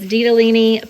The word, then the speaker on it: ditalini: to Google that to see how do you pronounce it. But it's ditalini pasta, and it's just little tiny round circular pieces of pasta.